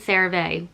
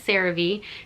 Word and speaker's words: CeraVe: gonna be using the i think they pronounce it sarah v i don't know i've always said survey but i guess it's cerave this is their skin